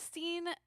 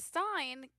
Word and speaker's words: Stein: is felt weird so I don't think of it as Steen I think of it as Stein because it's not it's not spelled like steam anyway is it IE or EI is that why it's EI oh yeah all right